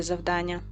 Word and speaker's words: завдання: Завдання наголос на другий склад на а.